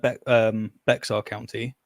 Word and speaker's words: Bexar: got like be um Bear County if I'm saying it's pronounced Bear County how dare you I'm